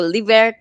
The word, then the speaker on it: Livert: that it will be l i v e r t livert leave it yes exactly it kind of almost sounds a little bit like delivery if you say it exactly yes yes